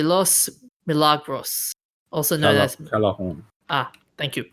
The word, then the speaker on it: Callejón: Callejón. Thank you. The J is pronounced as the H.